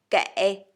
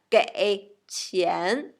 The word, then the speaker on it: 给: And if we want to pay somebody's money, okay, so we say 给 gave, 给 gave, 给. So same pronunciation. English gave, Chinese 给.